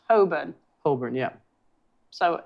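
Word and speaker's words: Holborn: The burrows I like how half of them the proper way to pronounce it is just don't say half of the letters. So, this phonetically is whole, right? But it's apparently pronounced Hoburn.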